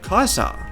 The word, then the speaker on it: Caesar: explained by Bob cook traditional Roman Latin pronounces Caesar as Kaiser but Latin began to change with the English language pronunciation of Latin words softening the pronunciation of C from from a k to an S while s's became